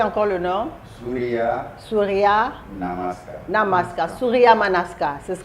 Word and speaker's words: Surya Namaskar: Alors, donc, prononcez encore le nom. Surya Surya Namaskar.